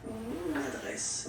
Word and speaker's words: mon adresse: Okay, you can hear now this little link, so you get to pronounce this end. Mon adresse.